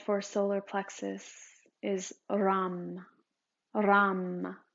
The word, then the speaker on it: Ram: The sound for solar plexus is Ram. Ram. R. It's spelled R-A-M. It sounds like Ram.